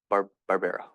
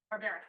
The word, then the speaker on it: Barbera: Barbera. Barbaric.